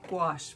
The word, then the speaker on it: gouache: how to say it it's gouache people like squash but with a gouache so I have to